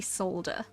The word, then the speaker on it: solder: I've only ever heard it pronounced as if there's no L in it until you just now, like soldering. Oh dear. No, it's definitely solder.